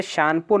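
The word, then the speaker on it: Tsangpo: हूं तिब्बत में इसे शनपुर नाम से जाना जाता है थोड़ा इंग्लिश शब्द में लिख देता हूं इंग्लिश में टी साइलेंट राहत है क्या किस नाम से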